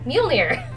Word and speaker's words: Mjolnir: The answer is actually Mjolnir. That one. That's how you say it.